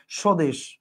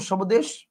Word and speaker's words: স্বদেশ: বলেন সবামী বলেন না স্বদেশ আপনি কি বলেন সবদেশ বলেন না আপনি বলেন স্বদেশ মানে এইটার বফলের উচ্চারণটা কি